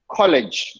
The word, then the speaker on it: college: i never said college very very bad way of pronouncing college not it should touch here just below your teeth okay just at the back of it did not at the roof of the mouth at the roof of